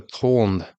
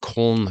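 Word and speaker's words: Köln: Keith Jarrett and the col concert I'm not sure if I'm pronouncing that right it's German k o Ln the col concert a now Infamous recording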